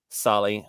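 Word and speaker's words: Saleh: on Twitter about hoping the Jets fire um Sally is that how you say it Sally Sally Robert Soleil yeah Robert Sala okay so and we hire him as defensive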